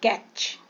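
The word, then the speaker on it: catch: silent हो जाता है कैच अय देखो य पर टी को हम उच्चारण नहीं करें कैच फैच मैच वच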